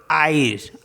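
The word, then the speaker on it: haïr: और HAIR, तो इसको पढ़ेंगे आयर। आ और ई, आयर।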